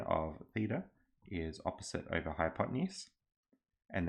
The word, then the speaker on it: theta: By the way, if you're wondering about this symbol, theta is how you pronounce it.